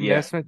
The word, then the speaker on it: Nesmith: And like I said, a lot of the move to re-sign Nesmith before he really had a chance to is that how you say his name? Yeah, Aaron Nesmith. Nesmith.